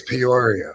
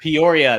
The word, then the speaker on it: Peoria: that I think you you seem to take a syllable out of it when you say it yeah I think I do I got Mushmouth with it I think it's Peoria Peoria there we go Peoria I think you're